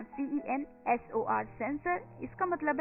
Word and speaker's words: censor: और दोस्तों, ये जो वर्ड है, ये 3 वर्ड हैं जो एक जैसे सुनाई देते हैं.